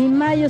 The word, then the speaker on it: Mallo: Y Mayo se escribe como gallo. L-L-O, Laboratorios Mayo.